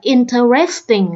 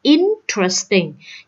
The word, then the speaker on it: interesting: Đa số các bạn đọc là interesting là sai ha. Đọc là interesting, cho nên nhấn âm thứ nhất.